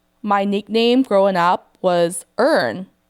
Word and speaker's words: Earn: But, when you say in my Thai accent, it's "Earn." Do you hear how that tone is different? I'm I'm going to repeat to you one more time. This is how people say my name in Thai. "Earn." It's softer, right?